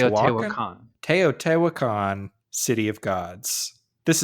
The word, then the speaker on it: Teotihuacan: And this is episode 58, where we are talking about building temples in an unpronounceable city, Teotihuacan. Teotihuacan? I think it's Teotihuacan.